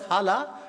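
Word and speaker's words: Jala: Which farmer grows this longesteared hala maze? It's pronounced as hala but it is written as j a l a.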